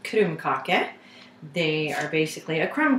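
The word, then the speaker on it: krumkake: are going to make norwegian cookies which are pronounced kurumkake they are basically a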